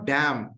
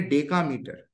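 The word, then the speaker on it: decametre: मीटर का एम, तो डी ए एम इज नॉट डैम, here डैम नहीं है, इसको प्रोनाउंस करेंगे डेका मीटर।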